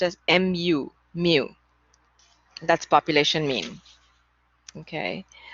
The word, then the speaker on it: mu: by this greek symbol called mu so it's pronounced as m u mu that's population mean okay um so let's